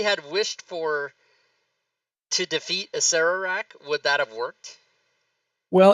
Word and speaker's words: Acererak: That It's Acererak, not Acerak.